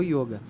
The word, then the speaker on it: yoga: é gênero masculino então ocorre o equívoco é mais que natural de das pessoas falarem yoga o yoga mas a pronúncia mais correta da palavra a gente utilizar com o fechado o yoga e o significado dela